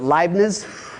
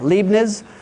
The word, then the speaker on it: Leibniz: His name was, I don't know how to pronounce it, Leibniz. Okay, Leibniz.